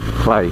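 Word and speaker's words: Cley: sometimes people call it clay CLE e y it's but uh I'm pretty sure the locals pronounce it cly there's a windmill here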